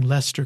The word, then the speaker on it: Leicester: want to pause and gloat about pronouncing Lester correctly I was good it's not